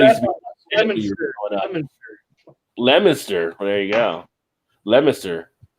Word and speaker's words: Leominster: I always pronounce it Worcestershire. Worcestershire? But I know I'm probably not saying it right. There's no Lemonster.